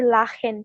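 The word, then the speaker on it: lachen: সিএইচ এর আগে যদি এ ই ও থাকে তাহলে ক্ষয়ের মতন উচ্চারণ হবে।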